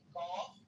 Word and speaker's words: Gauff: And how fire is that her last name is Golf? It's not really actually golf, but it sounds like the word golf, but it's GAUFF or something like that.